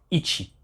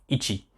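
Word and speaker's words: 一: ses prononciation chez dagana c'est ichi donc le i et le tchi ils sont les 2 2 2 hiragana ichi alors pareil hein la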